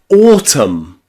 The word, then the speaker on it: autumn: For example, in words like autumn. Autumn. We don't say autumn. We say autumn or column. Column. That final N is silent.